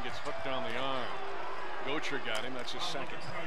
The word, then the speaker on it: Gotcher: I've been calling Gocher Gotcher in the first half. His name is pronounced Gocher, and I apologize for that.